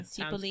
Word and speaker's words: Cipollini: My next one is going to be, help me pronounce this, Cipollini. I have no idea. Cipollini.